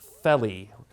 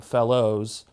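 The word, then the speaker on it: felloe: It is pronounced felly. Today people call them fellows, and in the United States sometimes people call them fellers.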